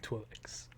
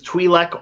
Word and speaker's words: Twi'lek: Blue Twi'leks, to be specific. pod race hangar prior to the race? I'm going to give you 2 pronunciations, Twi'lek or Twi'lek. I'll take either one, sir, and I'll give you 2 points for your trouble.